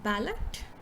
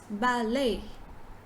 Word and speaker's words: ballet: lot of us will pronounce this word as ballot ballot but it's ballet so you say right